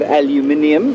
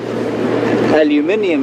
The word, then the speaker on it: aluminium: It's made of aluminium if you're from Britain. It's made of aluminum if you're from America. And now the British, of course, will tell you that aluminium is, definitely the correct